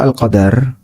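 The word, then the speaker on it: القدر: Untuk kata al-qadar ada dua cara baca. Bisa dibaca al-qadar dengan dal di fathah.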